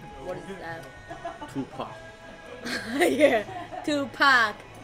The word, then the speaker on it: Tupac: Yeah, Tupac. I say to, ya say pack, to pack, to pack. Easy. Pack. I heard about someone says Tupac. I heard about it. Someone says Tupac.